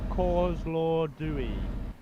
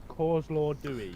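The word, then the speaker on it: Kozloduy: So it's actually pronounced Kozlodui. Kozlodui.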